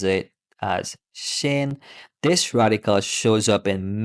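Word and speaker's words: 心: written as this way and in Chinese we pronounce it as Shen this radical shows up in many characters related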